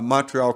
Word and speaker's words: Montreal: Montreal. Mon. Don't even pronounce the T. Montreal.